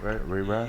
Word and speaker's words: Ray Rav: I think I said it right? Ray Rav? You said it right this time.